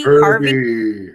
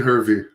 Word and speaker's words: Hervey: how do you say his partner's name heavy harvey i met him before rv heavy who jason hervey hervey hervey so is a bischoff hervey production